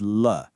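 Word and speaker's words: 了: This character is L. Let's just take a moment with the sound L. It's pronounced with that neutral fifth tone.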